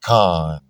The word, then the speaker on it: Chan: C H A N Chan is pronounced Khan Thomas.